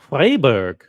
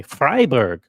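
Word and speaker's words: Freiburg: in the Canton of fryberg I'm pronouncing it the German way fryberg according to the Swiss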